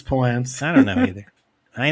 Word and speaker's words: Palance: ran into Jack um uh palent Palance why can't I ever pronounce his name right Palance it's Palance I don't know either I know Palance Palance